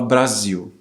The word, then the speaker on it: Brasil: Por exemplo, a palavra Brasil, saímos um pouco do R, agora vamos pro Z, mas Brasil se escreve com S, obviamente, em português. É o som de Z, né?